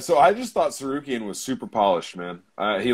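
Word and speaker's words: Tsarukyan: Who Sarukian, that's how you pronounce it.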